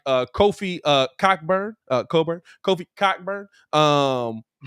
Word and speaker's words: Cockburn: his name is cockburn though it's coburn now it's coburn it's coburn is silent the ck is silent dog you got a